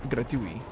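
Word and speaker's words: gratuit: Last T is not pronounced. Gratui. That's cute. Gratui.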